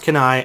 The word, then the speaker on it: Cannae: It's pronounced Canae.